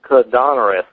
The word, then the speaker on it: Koudounaris: It's Paul Koudounaris. I'll spell it Koudounaris, and he wrote a book.